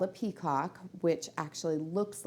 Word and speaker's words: petcock: It's called a Petcock, which actually looks like it's Petcock, but I guess it's a French word, so it's pronounced just a little bit differently.